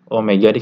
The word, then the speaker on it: Omega: dengan rumus berikut nah Omega ini bacanya Omega ya lambang mirip W tapi bukan W ini Omega Omega ini adalah